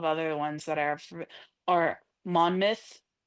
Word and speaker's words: Monmouth: And then there's just a couple of other ones that are or Monmouth. Every single thing that is a mouth spelling is pronounced myth.